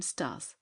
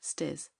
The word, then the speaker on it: Stas: One thing only he could not accomplish, that she should pronounce his name Stas, and not Stes.